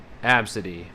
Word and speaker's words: ABCD: They pronounce it Absidy. Yeah, that's how I would pronounce it too. I feel like that's the safe, you know, that's the safe way to pronounce. That's the safe way to pronounce it, right? You just go from the beginning to the middle to the end.